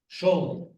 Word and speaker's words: Scioli: Does she pronounce it Scioli or Scioli? Surely. Scioli. Okay, she's from Puerto Rico, but with an Italian pronunciation.